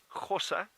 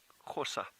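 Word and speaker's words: Gosa: So the name of this group, Xhosa, it's spelled G-O-S-A, Xhosa, and it actually derives from the name of one of the original farms in this area.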